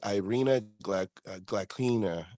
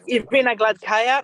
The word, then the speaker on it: Gladkaya: I know you definitely have trained with Fia and all, but also against Irina Glaklina, I believe is how you say her last name. Irina Gladkaya, yes.